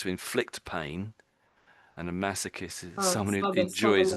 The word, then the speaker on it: masochist: So we say massochist.